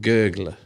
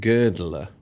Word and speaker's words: girdler: It said, a world gurgler. Now, he meant to say a world girdler. Oh, yes. Meaning to girdle, to go around the world. Gurgler, of course, means to sink.